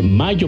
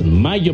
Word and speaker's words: Mallo: Les saludan Amparo e Imelda, las jilguerillas, para decirles, aquí donde canta el gallo, está Laboratorios Mayo, y Mayo se escribe como gallo, L-L-O, Laboratorios Mayo.